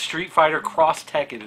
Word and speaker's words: Street Fighter X Tekken: You pronounce the X Cross. No, I pronounce it Z. I have been corrected on YouTube on that. It's Street Fighter Cross Tekken is how you're supposed to pronounce that.